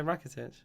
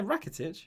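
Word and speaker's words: Rakitić: i swear i've just heard the commentators say racketed well i think he said the name wrong uh jiren over you know breckello and kramerich and all situational command for christchurch it's going to say rakitic he's not racketage isn't even playing the commentators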